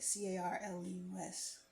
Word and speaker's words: Carlos: Carlos King, not Carlos, Carlos, like Carlus, Carlos.